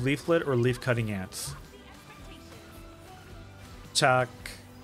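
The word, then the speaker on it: Chaac: Chuck. Chuck.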